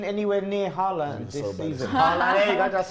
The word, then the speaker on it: Haaland: Haaland, there you go, just said it right.